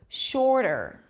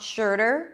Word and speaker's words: shorter: pronounce the vowel completely shorter shorter it's not sure der sure der okay if you if this